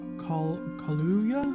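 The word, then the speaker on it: Kaluuya: i forget his name sometimes um uh daniel kahluya i think that's his name i always mispronounce his last name but he's a wonderful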